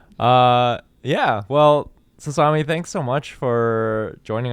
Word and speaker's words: Sasami: Sasami rhymes with salami.